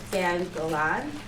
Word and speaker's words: Gan Golan: This book talk is going to be about 1/6, the graphic novel by Alan Jenkins, and I hope I don't pronounce this wrong, Dan Golan.